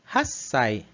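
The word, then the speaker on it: 八歳: Os dois vão perder esse ti final para uma pausa. Né? Então vai ficar Hassai. 8 歳、 Hassai. Né? Então vejam que tem consoante dobrada, né? Em dobro. Né? A gente vai ter uma pausa aqui no som. Então vai ficar Hassai. Né? A gente vai pausar e respirar entre uma e a outra.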